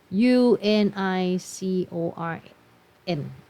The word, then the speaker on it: unicorn: ๆ อ่าน ได้ มย คำ นี่ อ่าน ว่า Unicorn ม้า มี เขา อ่ะ Unicorn เห็น มั้ย มัน ขึ้น ด้วย สระ ถ้า เกิด เรา ไม่ รู้ กฎ เมื่อ กี้ เด็ก หลาย คน อาจ จะ ตอบ ข้อ 2 หรือ ไม่ ก็ ข้อ 4 ถูก มั้ย คะ แต่ จริง ๆ แล้ว ข้อ นี้ ไม่ ได้ ออก เสียง อ อ่าง คำ นี้ ไม่ ได้